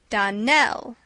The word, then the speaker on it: Donnell: would set it right Don L Accent on the last syllable and sa Clare on